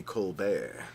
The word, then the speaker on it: Colbert: Such as Yeah, it's it's spelled Colbert, but it's supposed to be Colbert.